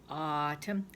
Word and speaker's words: autumn: first available word is autumn prawn that's it even though it's got an a you instead of an aw autumn is the